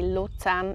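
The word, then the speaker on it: Luzern: I'm from Zurich but people from Luton would pronounce it don't forget that if you're there say lutan and they will just love you I tell you next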